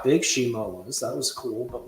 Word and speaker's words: Shimo: I feel like Shimo or ShamWow, what's the pronunciation? Shimo, right? Or is it Shimu? Shimo. That's just Scar King's dog.